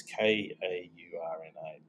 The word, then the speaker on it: Kaurna: It's K-A-U-R-N-A. It's pronounced Kaurna, like the country in Africa.